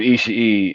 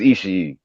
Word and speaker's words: Ishii: I think it's Ishii because there's two I's at the end, though. Okay, right. And the one thing I know, like my girlfriend, or actually my ex-girlfriend, is Japanese, and I've been learning Japanese. And the one thing that I've learned is that, and she's taught me, is that every syllable you pronounce. So Ishii.